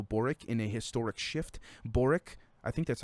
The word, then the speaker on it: Boric: new president gabriel boric in a historic shift boric i think that's how you say his name